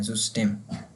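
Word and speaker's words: System: तो ये जर्मन और इंग्लिश में स्पेलिंग सेम है, लेकिन लेकिन उसमें वाई जो है उसकी जगह हम यू पढ़ेंगे, जुस्टेम।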